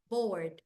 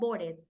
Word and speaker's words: bored: for verbs for example I'm going to write here bored I am Bor like I'm bored I'm bored bored no barded I'm bored um I